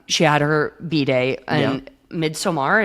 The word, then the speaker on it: Midsommar: So then, she had her B-day and Midsommar. Is that how you say it? Midsummer. Yeah, Midsummer. Oh, you just say summer.